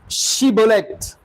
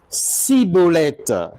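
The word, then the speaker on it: Schibboleth: Il lui disait alors : "Eh bien, dis chibolette." Et il disait cibolette car il ne pouvait pas bien prononcer.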